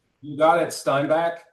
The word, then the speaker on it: Steinbach: Is that the right way to pronounce this, David? You got it. Steinback. Steinback, Manitoba.